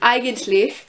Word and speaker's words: eigentlich: And then there's EI, which makes the I sound, so like an eigentlich, which is actually, when